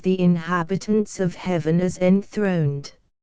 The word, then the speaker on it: enthroned: inhabitants of Heaven as enthroned the accent here falls on the first syllable of the word 12 yet some there